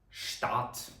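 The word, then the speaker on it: Stadt: буква т а отже читаємо як штат дуже добре студент як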